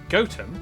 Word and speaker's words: Gotham: sister toaster then a quick jaunt to gotham goatum followed by a stop in cuanmore quorma before